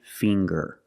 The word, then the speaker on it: finger: ginger very good and finger finger we see the nasal um sound plus the hard G the G um finger